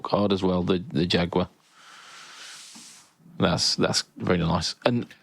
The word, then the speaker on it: Jaguar: They've also got some Jaguars, Jaguars as the Americans call them. Jaguar. Yeah, Jaguar is is actually how it's pronounced.